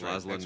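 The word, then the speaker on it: László Nemes: By Wade, you're the master of foreign pronunciation. Laszlo Nemes, I think. Nemes. Yep, that's Laszlo Nemes.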